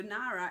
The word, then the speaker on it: Ngara: So Nara is spelled Ngara''.